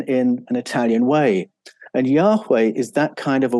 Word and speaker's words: Yahweh: And embedded in the Yahweh name are these two H's, a sound, which is almost silent the way we pronounce Yahweh today.